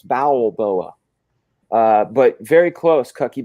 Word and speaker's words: Balboa: see Cy B booa you gotta spell it right though man it's bowel like your bowels bowel boa uh but very close